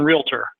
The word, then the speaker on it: realtor: in this career about there's no A in realtor, right?